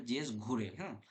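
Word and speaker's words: Ghurye: এখানে দেখ ঘুরঘিয়ে রয়েছে বানানটা। উচ্চারণটা যেটা হবে জেএস ঘুরে।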